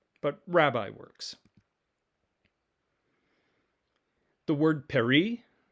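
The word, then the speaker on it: περί: know master teacher but rabbi works the word perry perry which has the letters p epsilon rho and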